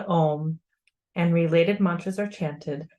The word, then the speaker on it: om: chant the sacred Mantra om for distinct ways first inhale deeply and pronounce the O longer than the m oh this enlivens